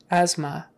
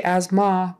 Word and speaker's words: asthma: no it's uh has to be the uh asthma if you say asma people won't know what you're talking about that's